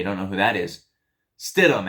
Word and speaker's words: Stidham: Stidham, actually, is how you say it. I said it wrong.